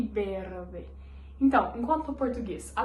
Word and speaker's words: verde: Quando em português a gente faz o verde, em espanhol, o V a gente vai pronunciar ele como se fosse a letra B, ou seja, fica verde. Verde. Conseguiram entender? Verde e berde.